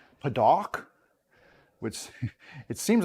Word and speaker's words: padauk: of fun to say paduk i don't know if that's the right way to say it though p-a-d-a-u-k so it's almost like that second a is silent padawk which it seems like